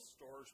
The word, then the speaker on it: storge: It's actually looks like it's spelled storge, but I looked up the pronunciation.